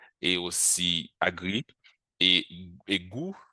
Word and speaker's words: gou: aussi agri, et, et goût, le goût en créole, G-O-U, c'est goût en créole. Donc, ça sonne comme le français, mais ça s'écrit sans le T.